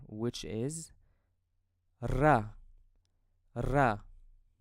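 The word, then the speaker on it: ر: Now let's move to the next letter, which is ra. Ra. I pronounce this letter as Spanish ra, so you have to roll your tongue when you pronounce this letter.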